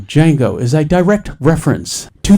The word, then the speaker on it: Django: quentin tarantino's earlier 2012 django unchained the d is silent i do not consider django unchained to be a